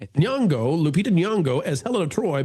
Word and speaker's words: Nyong'o: alleging the director cast Lupita, how do we pronounce her name? Nyong'o? Nyong'o.